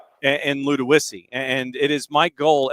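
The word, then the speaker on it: Ludowici: Uh, and it is L U D O W I CI Luda Wissy and it is the blue tide of Long County.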